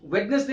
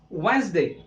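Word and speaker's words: Wednesday: नजर आ रहा है, यहाँ पे डी साइलेंट रहता है, ये वेडनेसडे नहीं होता, दिस इज वेंसडे, क्या बोलेंगे, वेंसडे।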